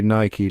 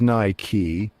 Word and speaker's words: Nike: Now, you might be tempted to say Nike like the bike, but hold your horses, my friend. The correct way to say it is Nike. Yep, you heard that right. It's all about that AI sound, like high or buy.